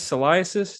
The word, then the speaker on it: Salaises: Today I'm joined by Chris Salaises. Did I pronounce that right?